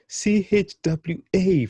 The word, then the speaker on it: chwa: CHWA, 4 letters becoming 1 consonant. This is where things become much more fun. For example, chwa, chwe, chui, chuo, chu. Give it a go again. Chwa, chwe, chui, chuo, chu.